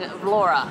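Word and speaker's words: Vlorë: The E with the two little dots, they're saying Vlora, like an A.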